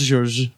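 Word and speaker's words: Georges: It's pronounced George.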